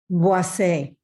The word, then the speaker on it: Boisset: And please pronounce it correctly if I mispronounce Boisset. Boisset.